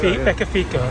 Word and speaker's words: Beccafico: It's Beccafico, I think it's Beccafico. Beccafico. Not Benefit. Beccafico.